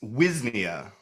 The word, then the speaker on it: Wisnia: It's Wisnia. Wisnia, okay. The Avi S like a Wisnia. Z, Wisnia. It's Polish, but we don't pronounce it like the Polish way.